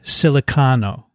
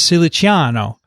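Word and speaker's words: Siliciano: who calls himself uh bob silicano no there's an i in his name it's ciliciano but he doesn't pronounce it that way and probably his parents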